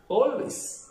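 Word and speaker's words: always: ഏക്ക് ശേഷം എൽ എന്ന അക്ഷരം വന്നാൽ ഏയുടെ ഉച്ചാരണം ഒ എന്നാക്കുക. ഓ. ആൾ. നമുക്കറിയാം ആൾ. ഓൾ. ആൾവേസ്. ഓൾവേസ്. ആൾദോ. Although. Call. Call. Small. Small. Fall. Fall.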